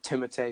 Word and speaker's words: Timothée: Yeah, and same thing with some other actors that are also in Best Picture nominees, like Timothée Chalamet or Timothée Chalamet. However you pronounce it.